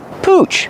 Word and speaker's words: pooch: Pooch. Pronunciation. Use the ooh sound like moon and soon.